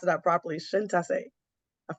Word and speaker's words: Syntyché: tell you her name and how the proper pronunciation for it thank you my friend my name is so thank you so much for having